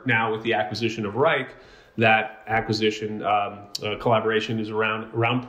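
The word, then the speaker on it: Wrike: Is it Rick? Am I pronouncing that right? Or Reich? Reich.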